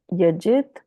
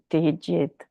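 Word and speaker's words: त्यजेत्: So, yat karma, kaya klesha bhayat, dukkam eva, iti yajit, how do you say that? Yajit, right? Tyajit.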